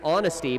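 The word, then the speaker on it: Aunesty: with the shot and another fun name i like this one honesty but it's spelled a-u-n-e-s-t-y her first free throw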